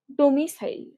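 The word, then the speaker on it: domicile: dormitory মানে কি বাসস্থান ডমিসাইল ডমিডি ওম আই ডমি তারপরে সিইসাইল ডমিসাইল উচ্চারণ এভাবেই করলে হবে ডমিসাইল মানে কি বাসস্থান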